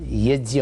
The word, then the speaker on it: यज्ञ: सहज है उतना ही यज्ञ साउथ में और इधर पश्चिम भारत में महाराष्ट्र गुजरात में यज्ञ बोलते हैं लोग यह जागो उत्तर भारत में यज्ञ बोलते हो वैसे शुद्ध प्रनंसीएशन शुद्ध उच्चारण यज्ञ होता है यह जयदेव पूजा sangatikaran